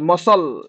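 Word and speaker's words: muscle: होची option number C मस्कल मस्कल the cone होच मसल मसल मसल तो सी टा साइलेंट रहबो मसल आंसर आंसर रे कोन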